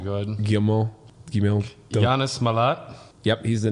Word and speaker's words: Guillemot: Haskot is essentially the second in command at Ubisoft under CEO Yves Guillemot, and the guy who's basically in charge of all of Ubisoft's games.